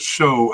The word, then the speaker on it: Show: Cup there and uh they do pronounce it as show as in TV show. So I'm going to go with that with show.